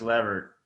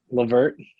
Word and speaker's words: LeVert: Turner and uh Chris Lever. Um, I always say his name wrong. Levert. Levert. Levert. I need to remember. It's like Levert and Shirley.